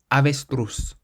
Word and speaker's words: avestruz: Or the word for ostrich is avestruz. Avestruz. So we stress the last syllable because it ends in a Z.